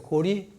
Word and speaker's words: 高麗: 그러면 리을과 이응을 따가지고 고리라고 읽어라.